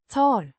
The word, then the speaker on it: tar: Always used when referring to oneself as the subject of a sentence. To means take or am taking pronounced to with the o sounding like the in father and the rolled lightly.